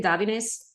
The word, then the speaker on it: Davines: think Davin has um am I pronouncing it correctly davines yes Davin yes I I